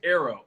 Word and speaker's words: Ero: But we pronounce it like arrow, like a bow and arrow.